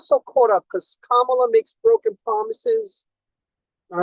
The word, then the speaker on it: Kamala: right because I say Camila Kamala it's Kamala it's like Pamela with a K all right say Kamala